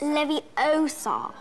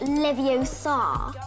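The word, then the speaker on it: Leviosa: someone's eye out besides you're saying it wrong it's Levi Oar not Levi Oar the opening adaptation of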